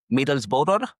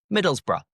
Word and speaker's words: Middlesbrough: and he's Spanish and he was saying is that Middlesbor? Yeah. Yeah. The team from Middlesbrough. So the pronunciation Middlesbrough just think Middlesbrough. Middlesbrough. Middlesborough.